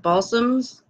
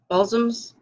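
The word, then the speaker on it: Balsams: have expanded this is um a thing is pronounced ball soms ball soms this area I'm gonna be careful how I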